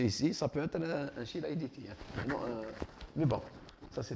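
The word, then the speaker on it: Chilaiditi: Ça s'écrit chylaiditi, ça se lit chylaiditi.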